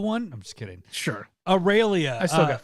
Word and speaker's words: Aurelia: My next one would be Aurelia. Is that her name? Is that how you say her name? Yes, Aurelia.